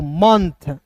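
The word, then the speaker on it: month: एम ओ एन टी एच को पढ़ेंगे दोस्तों मंथ, मंथ। मंथ नहीं पढ़ेंगे, इसे पढ़ेंगे मंथ, ठीक है।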